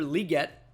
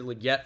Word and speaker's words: Legette: first pickup here and calling him Xavier Legette for the longest time now he never corrected anybody until uh his his uh draft interview because Roger gell called him liette on the stage and